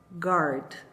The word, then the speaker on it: guard: O correto é assim, guard. Sem imaginar que esse U esteja aí, porque em português a gente obviamente falaria guarda, por exemplo, né? Só que em inglês a gente não considera. Então, o correto de você pronunciar essa palavra é guard, ok? Tenta pronunciar aí, como se o U não existisse.